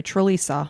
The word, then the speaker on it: Trlica: old and Mary Rachel Trlica. I'm going to need your help with this last name Trlica. Trlica? It's spelled t r l i c a. Okay, Trlica. But it's Trlica.